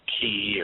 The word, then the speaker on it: chi: that is conducive to chi production, chi production. Some people pronounce it ki, or I don't care. Chi looks like chi to me, so that's what it is to me.